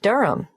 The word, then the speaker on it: Durham: at one uranga street durham how do you spell durham d-u-r-h-a-m course i should know that but it's just one of those names that sounds quite different from the way you spell it it is confusing i've